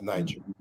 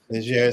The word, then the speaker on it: Niger: the French is slightly different. Right. Yes. Yes, Niger, not Niger, not the English Niger. Yeah. It's Niger. Niger, soft G.